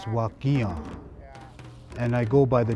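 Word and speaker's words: Wakinyan: My Indian name is Thunder, pronounced Wakian, and I go by the name of Dave Chief.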